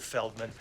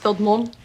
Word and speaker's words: Feldman: Feldman. It's actually pronounced Film Mold.